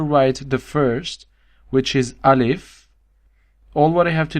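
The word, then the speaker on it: ألف: This is alif. Yes. Very simple. It's like I in English, but without the point.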